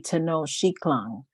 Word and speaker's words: Tenochtitlan: So I've been trying to pronounce it correctly, Tenochtitlan, the capital of the Aztec Empire.